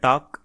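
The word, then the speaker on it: talk: इसे हम पढ़ते हैं टाक। इसमें टी आ रहा है, ए आ रहा है और के का उच्चारण हो रहा है। लेकिन एल का उच्चारण नहीं हो रहा है।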